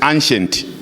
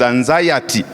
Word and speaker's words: anxiety: have seen over here the way the anxiety has been pronounced as ancient ancient is another thing the all the things that is ancient but it was supposed to be pronounced as anxiety and depression that is